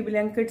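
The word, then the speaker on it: Blinkit: तो बहुत सारे ऐसे कमेंट्स में आ गए कि ब्लैंकेट से मतलब सामान जो आप लेती है ना, तो उसमें बहुत सारा चीज लोग ब्लैंकेट नहीं बेटा, बोला ब्लिंकिट। अरे बहुत स्पीचलेस हो जाते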